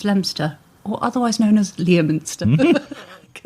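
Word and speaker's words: Leominster: So funny watching foreigners go Leo Menster. They had to say it in my driving test. Yeah. She said, "We're going left towards Lemster or otherwise known as Leminster."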